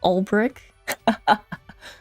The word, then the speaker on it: Beric: It's Sir Beric in the flesh. Sir Oh, they actually pronounce it differently. It's brick.